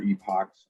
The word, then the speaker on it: epoch: equal to a value i see epics or epochs i i know it's not pronounced epic but i say epic um or if i